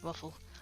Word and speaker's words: WAFL: down is literally that it's wafl and we literally pronounce it waffle so already a thing